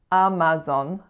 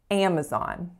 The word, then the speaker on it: Amazon: saying ah Apple Apple next up number three Amazon Amazon now this one is trickier than it looks so it is not Amazon Amazon with three pure vowels they're actually three